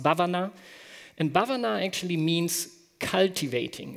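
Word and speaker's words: भावना: comes from the Sanskrit word which which is pronounced Bhuvana and Bhuvana actually means cultivating it's like cultivating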